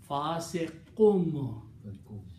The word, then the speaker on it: fasiqun: The sound of fasiqun will be pronounced as a fasiqum. That's the reason in the Quran they put a little meme there on top of qaf, that you should pronounce fasiqum, not kun.